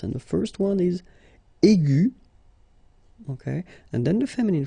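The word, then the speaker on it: aiguë: So aigu will become aigu. Another example is ambigu, and it will become ambigu. Okay, so you don't modify the way to pronounce them.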